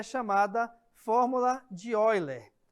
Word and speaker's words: Euler: é chamada fórmula de Euler repare que se escreve eu li mas a leitura é ó ele tá bom E essa